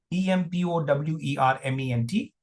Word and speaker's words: empowerment: E-M-P-O-W-E-R-M-E-N-T. E-M-P-O-W-E-R-M-E-N-T. And the pronunciation goes like this: empowerment. Empowerment. Empowerment. So how many syllables are there? 1, 2. You may think of this as a triphthong. No. 3, 4.